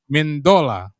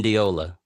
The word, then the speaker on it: Mendiola: Mendola. You're close on the last name too. How do you say it, my friend? I pronounce it wrong. Mendiola. Mendiola.